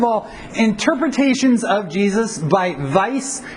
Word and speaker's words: Weiss: First of all, interpretations of Jesus by Weiss. It's German, so the W is pronounced V. Weiss and Schweitzer.